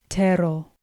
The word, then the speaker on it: tero: Tero. With tero, again, we find a two-syllable word with the stress on the first syllable.